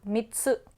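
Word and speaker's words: 三つ: हम एक हैं मैंने मित्सु को पढ़ा। थोड़ा दुगुना आवाज़। कूदना ठीक है, इसलिए डबल टी और ये रहा छोटा बच्चा। मित्सु।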